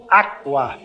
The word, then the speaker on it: aqua: italiano é a né que nem aqua o que é água o aqua e pronuncia-se todas as vogais aqua bem aberto tá outra letra